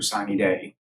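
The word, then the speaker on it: sine die: so it's 90 days after sunny day and that's actually the way to pronounce it which is in German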